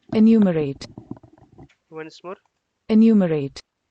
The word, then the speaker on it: enumerate: प्रो एनो pronunciation pronounce अन्यूमोरेट, एनुमरेट, ठीक है। enumerate, once more, enumerate, एनुमेरेट, ठीक है।